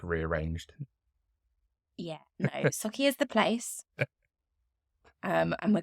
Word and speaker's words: Sauchie: I think it's pronounced Sauchie. It's Sauchie. And given everything I know about Scottish pronunciations of place names, I think that's right.